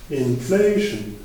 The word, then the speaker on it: inflation: Du coup, on dit inflation et indication. Donc, on a une accentuation assez importante sur la syllabe juste avant le suffixe.